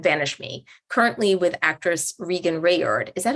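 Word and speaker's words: Reagan Revord: Grenade Bouquets, and Vanish Me, currently with actress Regan Rayard. Is that how you pronounce her name?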